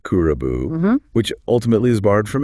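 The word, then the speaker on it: クラブ: which itself came from the Japanese word kulkura, pronounced kurabu, which ultimately is borrowed from English.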